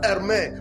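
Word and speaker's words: Hermès: There was a time in the life of Hermes where Hermes, which is spelled H-E-R-M-E, that's Hermes.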